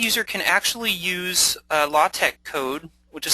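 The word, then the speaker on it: LaTeX: accessible a blind user can actually use a latch code which is spelled l a t x but it's pronounced latch uh to enter in the same information in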